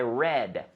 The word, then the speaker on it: read: So with the verb to read, we have to practice this. Read. Yesterday I read. Not reth.